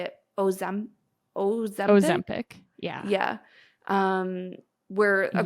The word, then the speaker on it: Ozempic: Ozempic.